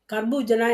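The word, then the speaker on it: खरबूजा: கர்பூஜனா என்ன? பூசணிக்காய். மஞ்சள் பூசணிக்காவும் இருக்கலாம், வெள்ளையாவும் இருக்கலாம். அப்போ கர்பூஜா அப்டின்னனா பூசணிக்காய். அடுத்தது க. அந்த உச்சரிப்பு மாறுது பாருங்க.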